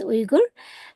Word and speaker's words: Uyghur: ethnic name our name of our ethnicity is Uger. Um many Chinese people they would say but the correct pronunciation is U starts with UF for umbrella.